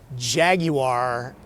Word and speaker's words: Jaguar: No, I'm not using the proper British pronunciation, Jaguar.